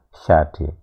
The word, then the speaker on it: Sade: Sade ini pengucapannya seperti S tapi ada hentinya, sade.